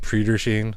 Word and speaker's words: Prairie du Chien: like, but it's Prairie Sheen. Oh, okay. It's like one of those weird ones because it's one of those weird Midwest pronunciations.